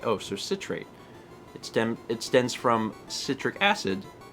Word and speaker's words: citrate: 3 bits from Science Nerd, who says, "Me being me, I have to let you know the word citrate is actually pronounced with a short I. Oh, so citrate.